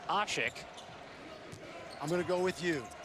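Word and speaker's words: Aşık: and fifth points but the pronunciation that we've gone with here and speaking with the some of the Turkish officials is ashik I'm gonna go with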